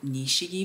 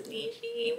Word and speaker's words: Nishiki: really good later that night we went to Nishi Market let's hope I'm saying it right we went to Nishiki Market let me Google this Nishiki Nishiki Market